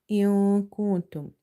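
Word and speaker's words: كُنْتُمْ: Now we have hidden nun sakina sound here in both these words in kuntum.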